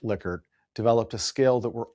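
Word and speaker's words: Likert: And Rensus Lickert, not Lyert, it's pronounced Lickard, developed a scale that we're all very familiar with, and that's the Lickard scale.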